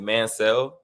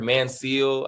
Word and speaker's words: Manciel: Me and my family, we pronounce it Mancel, like M-A-N and then S-E-L-L, like Mancel. I've heard Manciel.